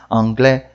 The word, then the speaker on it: anglais: O S não se pronuncia em francês. Esse é um que causa bastante confusão. Porque a gente vê ele lá, a gente quer falar ele. Mas em francês não fala.